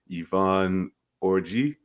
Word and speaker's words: Yvonne Orji: Congratulations to Yvonne Orji.